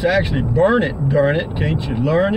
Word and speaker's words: Burnet: It's actually Burnet, darn it, can't you learn it? It's spelled B-U-R-N-E-T.